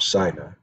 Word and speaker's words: Sinai: The Mount Sinai encounter. Some pronounce it Mount Sinai.